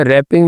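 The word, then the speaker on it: wrapping: Silent लफ्ज कौन सा, रैपिंग में डब्ल्यू, इसी तरह का राइट भी आ सकता है, उसमें भी डब्ल्यू साइलेंट होता है।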